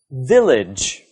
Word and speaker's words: village: Let's look at the second word, village. Village. The stress is on the first syllable.